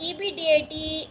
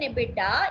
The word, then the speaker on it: EBITDA: depreciation amortization and tax which is pronounced as EBD rather than aidda equals zero we refer